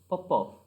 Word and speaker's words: Popov: Popov. Okay, pronunciation Smirnov and Popov.